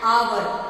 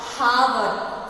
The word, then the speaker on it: hour: An hour, not hour. So even though this H is a consonant, but how we pronounce it?